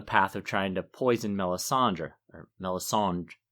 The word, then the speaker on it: Melisandre: poison Melisandre or melis how do you say it Melisandre I give it a little D at the end I go for meland that's how Roy drice does it in the audio book too but I'm too American